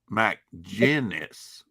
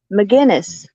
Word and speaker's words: McGinnis: the woman dope Magnus McGinnis McGinnis but he spells it out for us phonetically Mac genus gen jind g-i-n yeah but good McGinnis